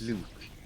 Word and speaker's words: Luke: thing is, Blue and Luke blue. Luke is an Luke. American thing, and it's got a hard K at the end. That's how you pronounce the name.